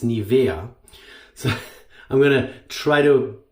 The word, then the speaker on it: Nivea: Nivea Nivea sorry guys the proper German pronunciation of the brand name is not Nivea it's Nivea so I'm gonna try